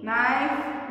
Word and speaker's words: knife: First one, knee, knife, not, now. ये के के सब में आया है बच्चों, ये के है ना silent word. The letter K is silent.